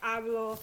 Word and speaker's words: hablo: If a word ends in a vowel or N or S, like any conjugated verb ends in a vowel, like hablo, tengo, nouns like taco, casa, then you stress the next to the last syllable naturally, and it does not need a written accent.